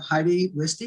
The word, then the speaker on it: Heidi Wiste: Today, I want to introduce to you, we're very excited to have Heidi Wiste. Is that how you pronounce it?